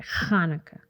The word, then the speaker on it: Hanukkah: kwanzaa hanukkah that's how you say it hanukkah see you guys in the future all because